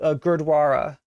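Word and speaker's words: Gurdwara: was about to Mis I was about to mispronounce that grossly thank you for reminding me it's called Gara yeah yeah I've I've been uh by uh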